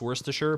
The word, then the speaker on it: Worcestershire: sauce or cestershire sauce Worcester Shire oh that's that's that hurts me to even say Worcester Shire no Worcestershire it took me a little while to wrap my head around why it's pronounced Worcestershire but once you do